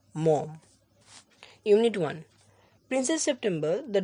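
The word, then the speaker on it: Maugham: বাই ডব্লিউ সোমসেড মম উচ্চারণটা মঘাম নয় মম unit one princess September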